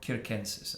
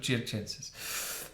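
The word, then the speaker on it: circenses: Panm at churches or kenses. I don't know how you're supposed to pronounce it in Latin. The way I learn it, it had the Italian C's. So, chenses.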